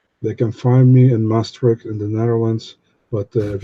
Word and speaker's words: Maastricht: Masterick, is that the name of your city? Yeah, you say Maastricht, but yeah, you have the right city. Clearly, I didn't pronounce it right, but I still sort of got it right.